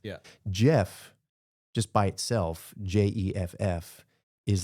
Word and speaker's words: Geoff: Jeff, just by itself, Jeff, is like already 2 squared. Yeah. And it sounds soft too. It does. Yeah, exactly. The G, even though it's pronounced like indistinguishably, there's something about it